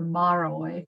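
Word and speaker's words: Márai: no longer living his name is shondo or maroy which is spelled m-a-r-a-i he's fabulous but only a only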